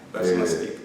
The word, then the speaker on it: Basematic: Vous êtes l'un des concepteurs du basmatic. Je prononce bien? Du Bien, basmatic. Basmastic, bien sûr.